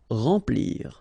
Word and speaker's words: remplir: Okay, M nasal, remplir.